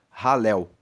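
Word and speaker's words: Hallel: sequência e que são chamados de salmos de ralel. Halel se escreve H a L e L.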